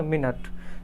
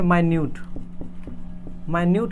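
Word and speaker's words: minute: होता है, लेकिन कब, जब इसको हम मिनट प्रोनाउंस करेंगे, मिनट बोलेंगे इस वर्ड को तब। अगर इसी को हम प्रोनाउंस करके मिनट ना करके क्या कह दिए, माइन्यूट कह दिए, तो इसका मतलब होता है सूक्ष्म।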